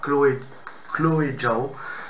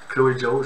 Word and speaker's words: Chloé Zhao: Alors, c'est un film réalisé par Chloé Zhao. Chloé Zhao, je pense que ça se prononce comme ça, son nom, qui est une